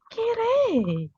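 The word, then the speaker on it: きれい: Kirei. Kirei itu masuk na ya, meskipun lagi-lagi belakangnya dia i memang. Tapi begitu diucapkan, dia seperti e panjang.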